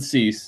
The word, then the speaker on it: Cease: Dylan Cease.